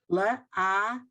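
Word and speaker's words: לעשות: It's the lamed with an ah. The ayin is silent, so it has an ah. The sin has the O vowel next to it, and the T is a T. So the last syllable is sot, 3 letters to one, in one syllable.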